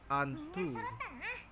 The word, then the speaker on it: Antu: It could be Anu, but me as someone who live in Southeast Asia, right? I say it as Anto.